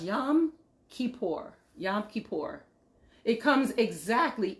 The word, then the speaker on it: Yom Kippur: just saying yom kippur yom kippur is pronounced yam kippur yom kippur it comes